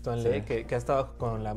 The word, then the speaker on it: Tuan Le: Sí, es que así se pronuncia bien porque no tiene la doble E como para Lee. Es Tuan Le, que ha estado con la marca, con Reebok, desde hace bastante tiempo.